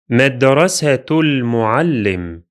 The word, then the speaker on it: مدرسة المعلم: The linking is here. The letter ta, which has a dhamma sound, to, and the letter lam. So the sound or the syllable that links the two words is tul, مدرسة مدرسة المعلم. This phrase is pronounced as if it were one word, like this.